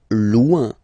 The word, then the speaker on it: loin: Loin. Loin. So remember, when you get this combination O-I-N, it's ouin, ouin, ouin, okay?